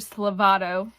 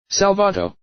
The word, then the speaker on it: Salvato: Slavato. Fuck, I think I just mispronounced my own character's name. I'll put it on the screen. I'm dyslexic. Can you tell? Can you tell? Salvato.